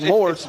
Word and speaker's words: Morse: Yeah, it's Morse. Morse, M-O-R-S. And I've heard you say Morse so many times, I thought, well, the S is silent. No, I talk so fast, the S would be silent, but no, it's actually Morse.